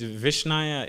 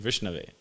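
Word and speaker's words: विष्णवे: Means Vishnaya, it means the fool doesn't know how to say it properly, so he says Vishnaya. It doesn't mean, it's just, he's mispronouncing Vishnave, but he says Vishnaya, right?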